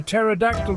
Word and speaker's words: pterodactyl: You know, you can't hear a pterodactyl go to the bathroom, right? Because the pee is silent.